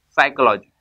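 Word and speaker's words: psychology: P silent के लिए condition है पी के बाद में एस या एन आएगा तो हमारा पी क्या हो जाएगा? साइलेंट हो जाएगा। एग्जांपल बताओ तो हम समझते हैं। जैसे एक बहुत पुराना स्पेलिंग है साइकोलॉजी, हम लोग सभी जानते हैं साइकोलॉजी।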